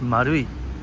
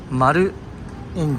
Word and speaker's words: Marui: it's o i o i pronounced marui do you guys know why because o or circle is Maru in Japanese that's why it's Maru marui anyway I digress let's